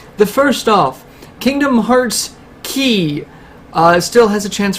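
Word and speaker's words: χ: with the linguistics uh kingdom hearts key i would have actually pronounced it chi because it's always written out chi anyway uh it was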